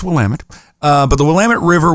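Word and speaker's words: Willamette: Um if you're out of state, it may look like the word says Willamedi. Uh it's pronounced Wamtt.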